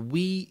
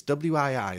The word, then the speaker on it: Wii: It's called the Wii U.